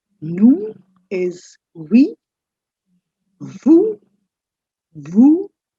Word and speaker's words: nous: Nous, last s is silent. Nous is we.